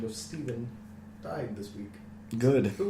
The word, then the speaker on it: Stephen: Just Speaking of Steves, someone by the name of Steven died this week. good. Who was his name? Rip Stephen Hawking. It's Steven.